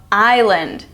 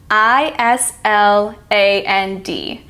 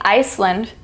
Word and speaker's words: island: not pronouncing in Island we aren't pronouncing the S we're not saying Iceland Iceland or easeland you're